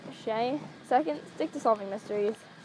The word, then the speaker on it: Chez: First off, it's pronounced Shay.